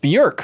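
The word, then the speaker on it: Björk: uh bjerk you informed the world that it's pronounced bjerk which blew my mind but on that he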